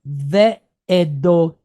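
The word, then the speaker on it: וְעֵדֹתָיו: So this kamatz, this yud, and this wa all combine to make one sound. What is it? Av. All right. So we'll put the T in front of it, and that gives us tav.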